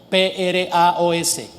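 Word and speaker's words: πρᾶος: Primero, la palabra manso, del griego praos, P-R-A-O-S, con acento en la A, praos.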